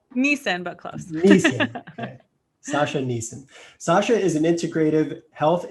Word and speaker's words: Gnesin: amazing story of transformation with our guest sasha nessen did i pronounce that right nissan but close sasha neeson sasha is an integrative health and nutrition coach